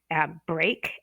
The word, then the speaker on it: break: Break and bread both have the EA, but we have break, which takes the long A sound, and bread, which takes